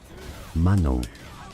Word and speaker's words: Manon: That's a French girl's name, a given name in French in France. It's said as Manon.